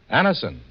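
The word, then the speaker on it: Anacin: It's spelled A-N-A-C-I-N. Anison. Now for Mr.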